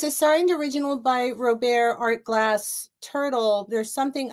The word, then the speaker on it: Robert: an old original by Robert Rober is actually how you pronounce that everybody it's Rober but the pen is